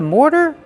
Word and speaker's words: mortar: Mortar. More plus the fast D.